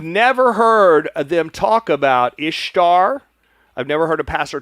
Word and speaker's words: Ishtar: So So um so Ishtar uh is pronounced Ishtar, not Easter.